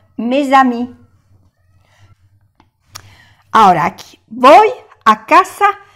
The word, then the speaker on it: mes amis: Que no se pronuncia la S del plural y aquí se pronuncia porque como le sigue una vocal, se hace la unión, mes amis.